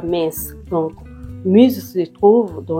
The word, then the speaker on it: Metz: la ville de m au fait moi j'appelle ça m alors que eux-mêmes ils appellent ça mess donc muse se trouve